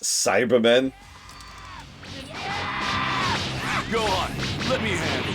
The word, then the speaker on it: Cybermen: Oh my god, they're pronounced Cybermen.